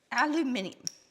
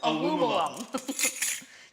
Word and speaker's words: aluminium: Aluminium. How do you pronounce it in the States? Aluminum.